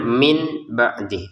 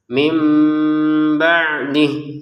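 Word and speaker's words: من بعده: Tapi karena bertemu ba ini maka harus kita baca nun sukunnya sebagai huruf mim. Jadi nun sukunnya sudah dibalik menjadi huruf mim sehingga cara bacanya mim gitu ya.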